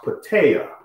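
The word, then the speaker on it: πατήρ: as our Heavenly Father this word father in the Greek language is pronounced pitaya pitaya pitaya or father speaks of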